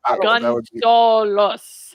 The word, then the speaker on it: Gunsaullus: which I always pronounce wrong, but it's like it's Gunsaullus, but it's like Gunsaullus. It's just spelled the German way. Yeah, it's how Germans say Gonzalez. It's exactly Gunsaullus.